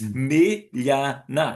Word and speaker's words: Miljana: And I actually said to them, okay, how do I say this? It's Miljana. Is that right?